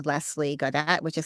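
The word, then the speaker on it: Gaudt: on Facebook and Linkedin so my name lesie Gat which is spelled l s l i e and my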